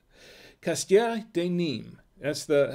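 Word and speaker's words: nîmes: no anymore de nim that's the how it's pronounced castilla de nim and uh it's it says castieris but the the s is silent so it's actually castia de nim and that's it is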